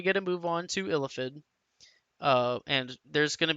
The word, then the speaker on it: Illithid: Okay, so now we get to move on to Illithid. And there's going to be some debate on how it's pronounced. But Illithid is how I'm going to pronounce it.